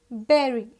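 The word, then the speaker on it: bury: where spelling is different b u r y is not buddy it is berry how we pronounce it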